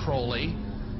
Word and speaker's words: Crowley: He likes to have his name pronounced Crowley to rhyme with holy.